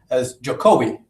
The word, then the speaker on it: Jokowi: He's known as Jokowi, right? Am I pronouncing it correctly?